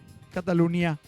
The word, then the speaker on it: Catalunya: In In catalan NY. tipo Catalogna. Catalunya. Esatto. Che se legge gn, non sei Catalogna, Sì, sì, sì.